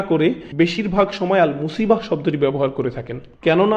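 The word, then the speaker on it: مصيبة: এটা একদম নিখুঁত নিশানা ছিল, এরপর আবার শব্দটি শেষে রয়েছে তা মারবুতা, যে জন্য আমরা মুসিবাহ উচ্চারণ করি, মুসিব না কিন্তু।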